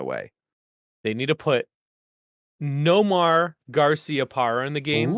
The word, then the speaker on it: Nomar: Noma.